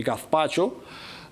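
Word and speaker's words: gazpacho: В этимологическом словаре вы не найдете ни малейшей ссылки на то, что слово гаспачо, которое пишется через букву Z и произносится испанцами гаспачо, вы не найдете никакой информации о том, что это могло бы быть баское заимствование.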